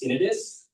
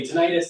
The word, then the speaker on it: tinnitus: Um, technically the correct way to pronounce it is tinidis. It doesn't matter though. If you want to say titis, that is fine.